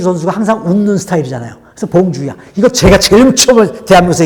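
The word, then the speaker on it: bonjour: 그런데 표현할 때는 봉주흐라고 썼지만 세련되게 보이려면 맨 끝에는 히읗 발음을 거의 안 들리게 해야 돼. 봉주. 근데 프랑스 사람들은 특히 예의 범절을 중요시 여기기 때문에 봉주란 말을 정말 무조건 써야 돼.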